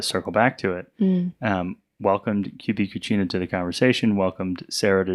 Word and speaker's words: QB Cucina: So it's QB Cucina, which is the Italian pronunciation.